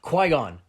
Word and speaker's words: Qui-Gon: Qui-Gon. This isn't even like a Han scenario. No, they all did pronounce it Qui.